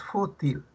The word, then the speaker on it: fútil: Pero cuando les dije fu ya les ayudé, fu es la sílaba tónica y til no. Por tanto, ¿qué clase de palabra es fútil?